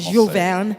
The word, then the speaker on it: Jules Verne: And we talked about Jules Verne, and you corrected the French pronunciation, Jules Verne, and H.G.